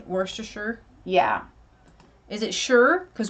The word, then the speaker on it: Worcestershire: Like Worcestershire?